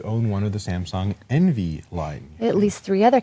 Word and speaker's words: NV3: nv3 and and they they pronounce it Envy like you're envious of other cameras it's like you'll be